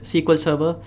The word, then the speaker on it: SQL Server: Oracle Microsoft's SQL Server often pronounced as sequel server and marija DB so